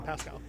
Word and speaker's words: Pascal: Pascal.